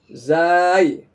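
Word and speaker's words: زاي: Zai. Bukan jai tapi za.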